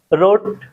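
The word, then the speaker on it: wrote: क्या होता है डब्ल्यू वाला वर्ड क्या होता है साइलेंट होता है रोट ठीक है डब्ल्यू आर ओ टी रोट पढ़ते हैं ठीक है तो यहां पे डब्ल्यू जो हमारा लेटर है इसका प्रोनंसिएशन उच्चारण नहीं करते हैं।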